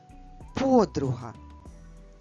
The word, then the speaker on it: подруга: В українській мові ми говоримо подруга, ставлячи наголос або наголошуючи звук О.